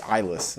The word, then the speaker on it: Eilis: It centers on Alice Lacey, a young woman, and it's not Ellis, by the way, it's Eilis. I forget how to pronounce that.